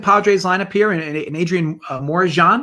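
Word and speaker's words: Morejón: Am I doing that pronunciation right on that J? That's how I say it too, but I think it's wrong. So what do you think? It's Morejon? It's there's like Morejon. Morihan. I think it's Morihan.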